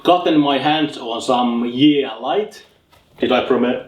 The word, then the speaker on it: Yeelight: so uh I've gotten my hands on some yeah light did I pr pronounce it like yeah light yeah yeah yeah light EX excuse me for